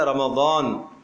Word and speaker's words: رمضان: بھی تو دیکھو نا، قرآن کا جو تلفظ ہے رمضان، ضاد ہے، اس کو زا پڑھے گا، اس کو ذال پڑھ لے گا، اس کو زوئے پڑھے گا تو معنی تو بدل جائے گا۔ ویسے تو ہم رمضان